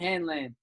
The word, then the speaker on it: Hanlan: Hanlan.